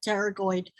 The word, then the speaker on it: pterygoid: If you say, what cranial nerve controls temporalis, medial lateral pterygoid, and that P is silent, so it's pterygoid, and masseter muscles, it will tell you what cranial nerve is involved.